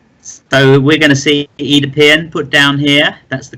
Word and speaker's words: Oedipus: So we're going to see Oedipus put down here. That's the correct pronunciation of it, which is a nice 5-voweled 8, of which are very, very, very important words for Scrabble.